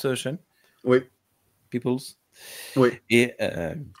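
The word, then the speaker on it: Peeples: par Al Sutherland et écrit par Samuel à peoples c'est comme ça qu'on prononce CH Oui peoples oui et B ça se prononce pas a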